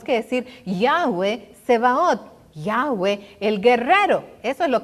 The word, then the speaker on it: Yahweh: ya llevaron de guerra es incorrecto que nosotros digamos jehová milham a eso no se dice se dice ya ve y 6000 hama ya ve varón de guerra es incorrecto que nosotros